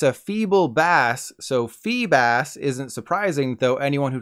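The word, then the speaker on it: Feebas: for the fish it's a feeble bass so fee bass isn't surprising though anyone who called it Phoebus is surely disappointed right now as for the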